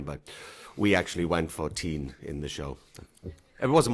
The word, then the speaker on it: Constantine: where he actually did they did want to pronounce it t but we actually went for teen in the show it wasn't my choice how